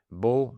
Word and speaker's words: beau: Now, the fact that, there are languages which are more opaque, that, for example, in French, you hear a sound O, to, bientôt, T-O-T, beau, B-E-A-U, or B-E-A-U-X in plural.